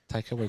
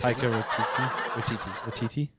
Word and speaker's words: Taika Waititi: Taika Waititi. Taika Waititi.